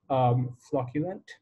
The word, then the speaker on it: flocculent: edge of the galaxy flocculent that's how it's pronounced flocculent they're not too clear and they act more